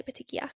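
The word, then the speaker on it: petechiae: Patikia i a e or petik. We all say petikia.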